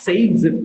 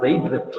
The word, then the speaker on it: Zaitsev: Zaitsev Zaitsev rule, or this also pronounced as Zaitsev, Z-A-I-T-S-E-V, Zaitsev rule. Zaitsev or Zaitsev, you can pronounce in either the way, both are correct.